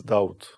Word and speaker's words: Daud: it was david just i changed the pronunciation david to doubt david and doubt is